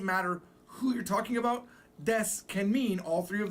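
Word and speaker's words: です: This is called des. Now des, even though it's written as desu, it's gonna be pronounced like des.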